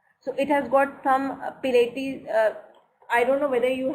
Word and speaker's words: Pilates: This is pronounced as Pilates.